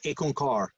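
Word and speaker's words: Ik Onkar: point out is aconcar the very first word is actually two syllables the first is actually a number so if you look over there you see under the right under the word content i've got ick it actually means the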